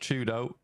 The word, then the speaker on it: 4YDO: For Twisted Minds, if you weren't aware, 4YDO is pronounced Chudo.